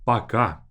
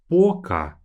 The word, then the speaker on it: пока: We'll talk about the difference in pronunciation a bit later in this course, but this word is read as пока, as if the second letter is A, пока.